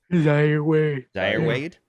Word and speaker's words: Zaire Wade: Zaire Wade.